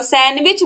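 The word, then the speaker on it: sandwich: word सैंडविच तो आप सैंडविच नहीं बोलते हो सैंडविच बोलते हो तो ये जो डी वर्ड है ये साइलेंट है ऑप्शन सी जो है ये सही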